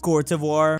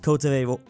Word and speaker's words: Côte d'Ivoire: The English-speaking world does not use Cote d'Ivoire. Côte d'Ivoire. Côte d'Ivoire. Yet for some reason, most people do not use the Côte d'Ivoire pronunciation for this country in Africa.